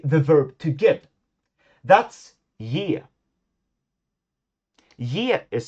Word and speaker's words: ge: verb to get that's y is spelled g e. The sound has now become the English Y consonant sound which in Swedish is represented by the next letter.